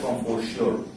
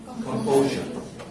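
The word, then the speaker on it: composure: কম্পোজার অর্থ লিখো, দেখো দেখে মনে হবে এটা কম্পোজিওর, কম্পোজিওর, কিন্তু উচ্চারণ হবে কি কম্পোজার না।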